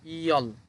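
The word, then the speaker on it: 열: ইয়ল কিভাবে হলো দেখেন, উপরে আছে ইয়ুং, ইয়ুং উপরে বসলে বাদ যাবে, তাহলে এটার সাথে আছে ইয়, ইয়, লিখলাম ইয়। এরপর নিচে আছে রিউল, রিউল। এই রিউল নিচে বসার কারণে শেষের বর্ণ উচ্চারণ হবে ল, তাহলে লিখলাম ল, ইয়ল। ইয়ল হচ্ছে 10।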